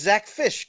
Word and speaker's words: Zack Fisch: It's just Zack Fisch, correct? You got it. It's spelled weird, easy to say, but you nailed it right off the top.